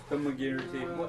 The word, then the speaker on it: thaumaturgy: Again, I'm using thaumaturgy. How do you pronounce it?